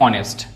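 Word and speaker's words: honest: इसको पढ़ते हैं हम ऑनेस्ट। इसको पढ़ते हैं आवर। इसको क्या पढ़ते हैं हम? ऑनर। यहां पे एच क्या है? साइलेंट है तीनों में।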